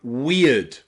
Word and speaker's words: weird: Words like weird, weird, where you've got EI and it's pronounced ear, weird, weird, okay?